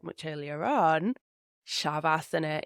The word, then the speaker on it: Shavasana: For example, like I said much earlier on, Shavasana instead of Savasana.